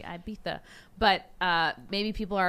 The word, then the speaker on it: Ibiza: break destinations cancun maybe ibiza i know i'm saying it wrong it's supposed to be ibiza but uh maybe people